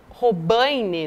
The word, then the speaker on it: Robaine: dirigente do partido chamado robaine né Lu essa é a pronúncia correta ali do nome dele